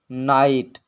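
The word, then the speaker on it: night: एच टी आया हो तो उसमें जी एच साइलेंट रहता है जैसे नाइट लाइट ब्राइट माइट दो थ्रो इन इन वर्ड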